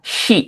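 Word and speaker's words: し: Nah, ini bacanya shi ya. Jadi agak agak sedikit monyong gitu, sedikit sedikit muncrat minasang, sedikit membanjiri lawan bicara. Nggak, jangan sampai disengaja dimuncratin, jangan ya. Memang dia ini shi gitu. Jangan sampai si. Bukan seperti itu, ada gitunya. Jadi shi seperti itu minasang ya untuk pelafalan huruf shi seperti dalam sushi.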